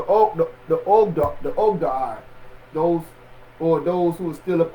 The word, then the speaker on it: Ogdoad: We was warned against those who the Ogadad lords, or the Ogad. I don't know if I'm saying it right. Let me make sure I'm saying the name. The Ogdoad, yeah, we was warned against the Ogdoad, those who were still